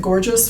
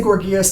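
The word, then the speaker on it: Gorgias: by gorgeous that's g-o-r-g-i-a-s g-o-r-g-i-a-s and some people pronounce it gorgeous for some reason but um I say gorgeous to keep it separate from the descriptive um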